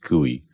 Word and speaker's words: GUI: for user interface and GUI pronounced kui stands for the graphical